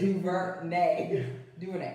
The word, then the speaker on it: DuVernay: Ava DuVernay.